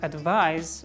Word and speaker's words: advise: remembered like this and advise with ise at the end is like rise pronounce it like z rise next one is money